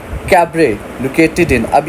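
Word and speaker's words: cabaret: Next we have मॉलन rogue is अ कैबरे located in. अब ये कैबरे क्या होता है? इसका T साइलेंट है, ठीक है।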